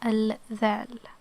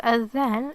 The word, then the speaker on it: الذال: It's called حرف الذال, and it's pronounced like the th, as in they, as in there, as in that, as in this, and it's so similar to the English pronunciation, so it's an easy one.